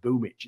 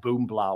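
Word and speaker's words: Boombl4: And as a result, that's why the name is pronounced Boomich. It's not Boombla or whatever.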